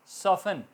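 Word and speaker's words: soften: सॉफ्ट सॉफन, नरम, T silent.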